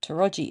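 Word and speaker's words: Towradgi: figure it out cuz it's spelled t o w r a d g i pronounced toi I know this cuz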